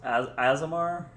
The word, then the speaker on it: Azimir: It's Azimar. Yeah, Azimar. Okay. That's how it's spelled.